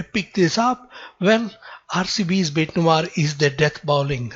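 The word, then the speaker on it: bête noire: is an interesting word it's a french expression and it's pronounced as bait noir uh what is or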